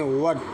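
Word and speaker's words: what: जैसे मिसाल देखें व्हाट तो डब्ल्यू के बाद एच है। इसके बाद ए है तो साइलेंट होगा एच।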